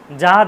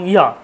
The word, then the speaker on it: যা: পুজো করছেন, যখন মন্ত্র পড়ছেন যা দেবী সর্বভূতেষু, যা দেবী, যা দেবী বলে কিছু হয় না, যা হচ্ছে ওটা হচ্ছে অন্তইয়া, তাহলে ওটা উচ্চারণ হচ্ছে ইয়া দেবী।